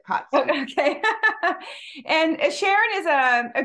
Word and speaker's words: Katzke: How do you say your last name, Sharon? Katzke. Katzke, Sharon Katzke. So think of C-O-T-S-K-I, and then it's easy to say it, Katzke.